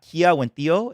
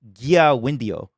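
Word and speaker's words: Kiawentiio: Oh yeah, someone told me her name is not Kia Wendio. It's like something. It's like a G sound. Like, it's Gia Wendio, like Gia Wendio.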